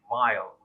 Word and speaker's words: vile: No, the pronunciation is different. It's a while, and this word is vile, vile.